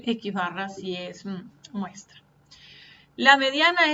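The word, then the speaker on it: x̄: Y si trabajamos con datos de una muestra se denota como x barra. Se lee x barra y se escribe x con la barra encima.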